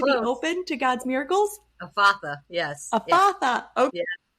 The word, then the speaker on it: Ephatha: Ephatha, yes.